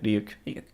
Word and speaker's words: Ryuk: Yeah, Ryuk.